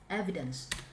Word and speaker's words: evidence: if you are speaking evident evidence evidence not EV evidence don't you remember this